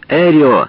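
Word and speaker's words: Эррио: имя пожал руку смеялся повторял эрио на русский лад эрио постарался произнести свою фамилию с ударением на Первом слоге он говорил что видел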